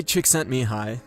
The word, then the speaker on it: Csikszentmihalyi: Mihai Csikszentmihalyi, and that's by the way how you say